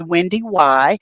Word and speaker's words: Wendy Y: and know me as Wendy why yes you do pronounce the extra Y and it's a branding